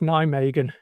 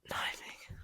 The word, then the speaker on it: Nijmegen: Will you use adjustable walls like last week in grip Nijmegen? No, Sorry, is that terrible? no, I had to ask a few times. Apparently it's pronounced Nijmegen. Nijmegen.